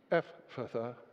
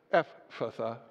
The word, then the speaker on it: Ephphatha: When we've stopped listening and we mumble, Ephphatha, be open.